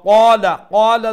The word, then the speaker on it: قال: দেখো কা ওয়া কলাল, এখানে কাফর পরে আলিফ মাদ্দা আছে নানি, তো এর লাগি ক লাম্বইব। কলা কুরআনের মধ্যে অনেক জায়গা পাইবা ওয়া কলা, তখন ও সমান জায়গাত, সমান প্রত্যেক জায়গাতেও কাফরে মুঠা করে উচ্চারণ করতা, আর কাফ আলি জবর ক এক আলিফ লম্বা করতা।